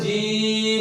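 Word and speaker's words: جيم: তার নাম কি জিম জিম বলতে কোন কারপূর্ণ করা যাবে না আমাদের যে বর্গীয় জ বর্ণ রয়েছে সেই বর্গীয় জ ব্যবহার করে জিম উচ্চারণ করতে হবে জিম কোন ফোঁটা ছাড়া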